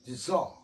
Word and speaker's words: deserve: 그러면 deserve는 서의 강세가 있어요. 서의 SER에 E의 강사가 있어요. SE, E에. 그래서 이거는 어로 발음됐죠. deserve, deserve, deserve. 여기서 서는 써라고 발음하면 X지만 서 하면 이게 영어의 Z 발음이에요. 서.